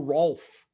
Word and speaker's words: Rolf: him his name is ralph it's cordelia's cousin right now can i confirm are you saying ralph or rolf rolf ralph or rolf rolf can you spell that r-o-o-f oh not l p-h-r-o-l-rolf yeah so cordelia's cousin rolf